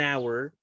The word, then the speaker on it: hour: Entonces, el primer fonema, ¿cierto? De hour y de honest, ¿cierto? Es una vocal y no es una consonante, digamos, aspirada como, como en house o en, por ejemplo, high. Tenemos que aplicar las reglas del sonido vocálico. Por eso se dice an hour and an honest person.